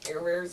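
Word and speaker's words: Caribert: Care Bears are open-ended. Fix your Care Bear. No, Care Bear. Oh. It's spelled like Carabert, but it's not pronounced like that. Like Camembert.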